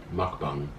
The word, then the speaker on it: mukbang: And that's how you say it, by the way. Mukbang.